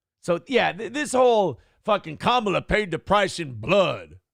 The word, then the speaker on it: Kamala: It's Come on, Kamala.